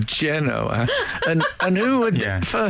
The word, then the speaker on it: Genoa: been to indonesia and they certainly don't say genoa it's mainly generally pronounced genoa and and who would